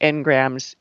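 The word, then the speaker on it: Ngrams: or tried this uh it sounds like n graham's en but it's spelled capital n g r a m s when you try and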